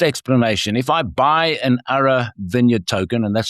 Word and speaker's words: Arra: The Ara Vineyard Token, or AVT, is intended to give